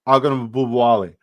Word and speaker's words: Ogunbowale: and I'm going to do my hardest to pronounce it for you. Agudman, no, Agudman, no. Agudman, Dare, Agudman Bawali. Dare Ogunbowale.